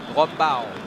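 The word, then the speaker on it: Raub: the Riders are heading towards a town called Rau or how the local would pronounce it Rau it is heavy down for here but some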